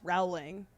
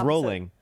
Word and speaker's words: Rowling: would tell us like JK rolling it's actually pronounced Rowling or no it's rolling oh it's the opposite it's just it's just Americans for some reason had the idea of Rowling and then that's sprad